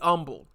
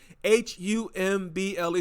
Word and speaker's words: humble: to be humbled okay h u m b l e some people say humble I say humble cuz that's what I learned when I was in grade school silent h and all that stuff to be humble